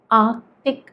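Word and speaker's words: Arctic: ആർട്ടിക് എന്നാണ്, ആർട്ടിക്. ആർ കഴിഞ്ഞിട്ടൊരു ക ശബ്ദം വരുന്നുണ്ട്, ആർട്ടിക്.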